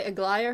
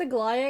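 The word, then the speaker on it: Aglaea: I think it's Aglaia because that's how they pronounce her name in the trailers, Aglaia.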